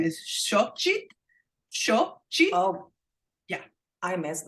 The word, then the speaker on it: Xochitl: She pronounces it Xochitl.